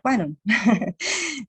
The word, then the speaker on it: Kannon: Y claro, Kannon es la forma de la diosa de la misericordia también, ¿no? Canon como la marca de cámaras fotográficas, ¿no? Lo mismo, Canon, solo que se pronuncia Canon, pero es ella misma, ¿no?